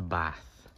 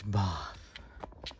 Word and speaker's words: Bath: no this is the bath mom's favorite place in the UK no oh sorry I mispronounced it it's both both of course as always